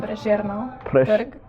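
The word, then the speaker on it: Prešernov trg: life okay what's the I call it preseren square how do you pronounce it? Preserno terg Was that square? pressure no Turk okay the square in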